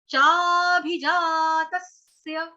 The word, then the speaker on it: चाभिजातस्य: चाभी, अभी इसको चाबी नहीं कहेंगे, ये वो वाली चाबी नहीं जो ताला खोलने वाली चाबी है, ठीक है, ये वो नहीं है, भ भालू वाला है, भ भालू वाला।